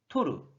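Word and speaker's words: 取る: 1번으로 는 뜻으로 는 토루 토르 라고 발음하고 음으로 는 짧게 쉽 슈브 라고 발음 해줘요 자 그럼 지금부터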